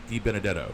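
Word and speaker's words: DiBenedetto: 24 Matt De I always mis I always mispronounce his name D Benetto beat D Benadetto de Benadetto there we go 23 Nick Sanchez 22 Connor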